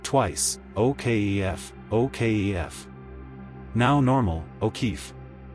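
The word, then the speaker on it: O'Keeffe: Okf. Say it twice. Okf. Okf. Now normal. O'keefee. Memory trick. It ends like chief.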